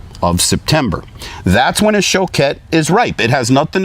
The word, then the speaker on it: Choquette: I used to say Choquette, and a member of the actual Choquette family called me and said, you're pronouncing our name wrong. So now I'm calling it Choquette.